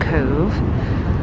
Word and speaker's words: Cobh: So this is Cove Port. It's spelled C-O-B-H and it's pronounced Cove.